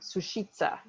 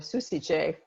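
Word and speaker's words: Sušice: your scroll is from sushitsa or susice is the way i pronounce it because i speak italian but i looked it up and it's sushi sushi there are actually ten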